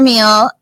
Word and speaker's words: Meehl: Okay, and meal is spelled MEEHL.